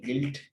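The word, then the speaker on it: guilt: गिल्ट, इसको गिल्ट पढ़ते हैं, ग्विल्ट नहीं है ये।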